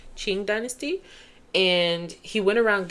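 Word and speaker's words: Qing: to the Ching Dynasty I think that's how you pronounce it q i n g Ching Dynasty and he went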